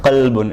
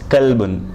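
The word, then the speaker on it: كلب: Okay, not qalbun, it's kalbun. Kalb. There is a huge difference between the two. If you say qalbun, it's heart and not the dog.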